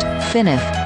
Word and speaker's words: FNAF: and structure yet Freddy's colloquially styled fnf pronounced finif is more more than